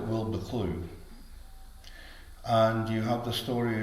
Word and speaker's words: Wildboar Clough: Now, I must get the pronunciation right here because on paper this village is called Wildboar Clough, but the people around it call it Wilbur Clough.